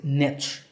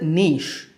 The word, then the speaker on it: niche: of this word is Niche but due to influences from other languages like French Niche has become more popular in fact it's the